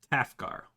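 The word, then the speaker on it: Tafgar: her random name here half car okay you spell that t-a-f-g-a-r okay and his daughter quarter gar and his son 8th guard not half gar okay so who is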